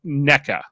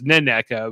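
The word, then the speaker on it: Nneka: I'm feeling better about NECA, who I thought was Neneka, but it turns out I think it's just NECA. If I'm with a silent N on NECA.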